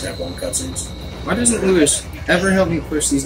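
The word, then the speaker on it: Luis: Why doesn't Lewis ever help me push these damn bookshelves? Every damn Lewis. Time. You said Lewis, it's Lewis.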